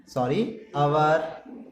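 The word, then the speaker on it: hour: अब हम लिखने वाले हैं क्या, the angle between minute and आवर एंड, इसका ना हवर होता है बट प्रोनाउंसिएशन आवर करते हैं, याद रखो।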